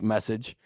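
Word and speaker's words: Meccage: day one Bryce message which is not how you would think it's pronounced but it is pronounced like message right-handed pitcher from New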